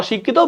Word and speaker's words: অশিক্ষিত: তার মানে অটা অতে কি যাবে, তারপর তালব্য স রস্যইকার হবে। কি হচ্ছে শব্দের মাঝখানে আছে, তাহলে কি যদি শব্দের মাঝখানে থাকে একটা ক হবে আর একটা ক হবে। এখানে যেহেতু রস্যইকার আছে রস্যইকার বসে যাবে, তো ওটা ত বসে যাবে। তাহলে তো ত অশিক্ষিত বলি, এখানে অশিক, এখানে থেমে যাচ্ছে, হসন্ত দিব, অশিক্ষিত। এরপর দেখো আবশ্যক, দেখো সরেয়া আছে, এরপরে ব আছে।